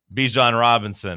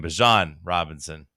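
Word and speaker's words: Bijan Robinson: Bjan Robinson or I guess he's changed his name. Bjan Robinson. He said, "Hey, everyone was saying my name wrong." Bjan Robinson.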